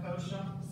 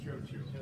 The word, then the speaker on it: Cioccio: Kosha. I don't know if I pronounced last name. No, it's Chochu. I'm sorry. It's spelled CIOCCIO.